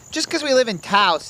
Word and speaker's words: Taos: Just because we live in Taos and it rhymes with house doesn't make it a good name.